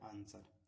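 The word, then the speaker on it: answer: एस के बाद W silent होता है। बहुत कम होता है। है ना? देखिए जैसे आंसर ए एन एस है ना? यहां पे जो होता है डब्लू यहां पर साइलेंट है।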